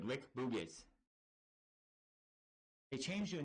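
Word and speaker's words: Rick Boogs: Eric Bugenhagen, which I don't know if that's his actual name or not, he's now Rick Boogiz, which is how you say it, Rick Boogiz.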